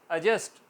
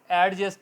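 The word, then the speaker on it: adjust: अजन, अजस्ट, अजस्ट, एडजस्ट नहीं कहेंगे, अजस्ट। क्यों? क्योंकि फ़ौरन बाद जे आया।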